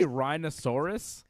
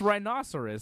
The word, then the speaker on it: rhinoceros: a rhinosaurus scary looking did you say rhinosaurus like he's a like it's a dinosaur it's rhinoceros same thing man rhinosaurus